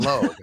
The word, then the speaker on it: Logue: Is it that they tell you what it sounds like or rhymes with sometimes, like rhymes with rogue for Zion Logue?